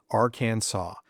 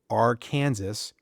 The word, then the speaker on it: Arkansas: The Arkansas code formally declares the correct pronunciation is Aransaw with a silent s and that's that. Final answer, no debate. Now, technically, this law isn't being enforced. No one is getting arrested for saying our Kansas.